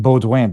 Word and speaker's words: Baudouin: One interesting thing that we pronounce his name Baudouin because that's the original French pronunciation.